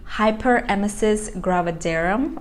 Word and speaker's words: hyperemesis gravidarum: Hyperemesis Gravidarum, I believe this is how you pronounce the name.